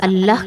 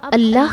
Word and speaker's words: اللہ: منفرد موسیقیت رکھتا ہے، کیونکہ اس کے تمام حروف حلق سے ادا ہوتے ہیں، نہ کہ ہونٹوں سے۔ یہ الہی نام ہونٹوں سے ادا نہیں ہوتا کیونکہ اس میں کوئی نقطہ نہیں ہے۔ اب اللہ کا تلفظ